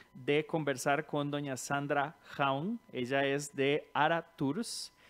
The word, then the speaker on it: Haun: Y ok, se pronuncia Sandra Haun, su Sí, nombre.